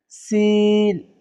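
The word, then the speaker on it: سين: হচ্ছে জলে টান হবে ঠিক আছে তারপর হচ্ছে সিন চার আলিফ টান হবে চার আলিফ টেনে পড়বেন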